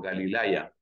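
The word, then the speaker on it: Γαλιλαία: lo tienes aquí Esta es la manera como se escribe Galilea en griego galilaya Aquí está en acusativo porque la preposición Ace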